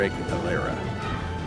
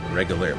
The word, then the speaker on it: Regaleira: I think I'm pronouncing it right, at the Regaleira. Regaleira, looks like Regal Air, A-I-R-E.